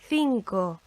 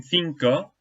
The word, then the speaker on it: cinco: Okay, so in cinco, we've got two letter C's in there, letra C. The first one comes before an I, so it forms that lisping sound, the th. But the second one before an O is a hard C, cinco. Okay.